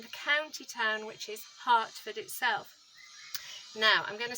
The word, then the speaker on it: Hertford: Well, it turns out that Hartford, and that's spelled Hertford, so the county town